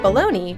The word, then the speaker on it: Bologna: Bologna, which is not spelled anything close to how it's pronounced because the world is